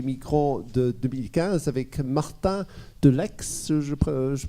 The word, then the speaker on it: Deleixhe: crise d'accueil des migrants de 2015 avec Martin Delex, je prononce bien ?